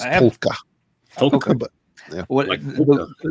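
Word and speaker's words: Taake: It sounds like there's an L in it, but I don't think there. Okay. I could be wrong. If anybody hears Norwegian, you can laugh at my pronunciation, but I've heard people from there say Tolka.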